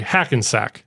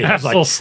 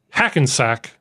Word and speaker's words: Hackensack: I'm sorry, Hackensack. Oh, say. Hasselsnack.